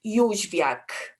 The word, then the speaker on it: Jozwiak: It's a very Polish surname, and it's pronounced Jozwiak.